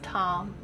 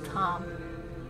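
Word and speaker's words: Tam: And the seed syllable for green Tara is Tom, T-A-M. And as we invoke the syllable Tom, we invoke green Tara instantly.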